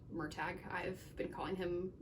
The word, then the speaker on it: Murtagh: I was quite disturbed at the book event to find out that it is pronounced Murtagh. I've been calling him Murtagh for years.